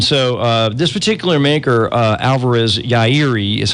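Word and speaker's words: Yairi: endangered right and so this particular maker Alvarez yah Erie is how you pronounce it I learned about a month ago it's yeah re not yari he has the oldest collection of wood in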